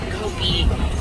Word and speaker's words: kopje: is known as a kopje. That's spelled K-O-P-J-E. Not at all how I would think to spell the word kopje.